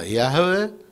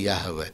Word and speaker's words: Яхве: Ну, я думаю, Яхве, но не Иегова. Иегова – это не так.